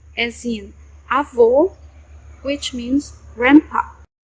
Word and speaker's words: avô: and o, as in avô, which means grandpa. Notice that the sound of the circumflex closes the sound of the vowel.